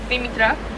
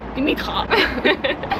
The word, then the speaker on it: Dimitra: Like in Greek it's Dimitra, but here they're like Dimitra because of like the Dutch pronunciation.